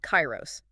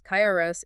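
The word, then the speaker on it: KAIROS: an unannounced system called Chyros that is spelled K A I R O S. The code reveals Kyros is fully built and it functions as an autonomous demon mode for quad code.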